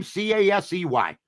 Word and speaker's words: Caissie: He sits Caissie, and I would put, please, next time, Cassey, okay, if you want to pronounce Caissie, okay? I know you're Canadian, but where I come from, Caissie is spelled Cassie, all right?